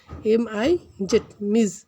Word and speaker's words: Ms: MS এই শব্দটার উচ্চারণ হবে মিস, MIZ, মিস। এগুলো আমরা জানলাম।